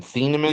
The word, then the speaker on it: Thieneman: How you pronounce his name? Thieneman?